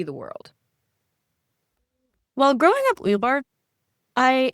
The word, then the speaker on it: Uyghur: It should be pronounced as Uyghur. Uyghur. Uyghur. Mhm. Is that correct? Yeah, Uyghur, that's correct. So Uyghur. the GH actually is like a coming from your throat.